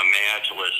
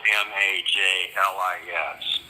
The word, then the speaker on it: Majlis: you is that I was invited to a Majlis event probably every month for the 2 years that I was in Bahrain.